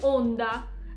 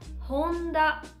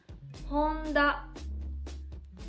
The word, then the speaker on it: Honda: Ma essendo scritto con l'alfabeto sviluppato dai giapponesi, romaji, non si pronuncia Honda, ma si pronuncia Honda. Lo ripeto di nuovo. Honda.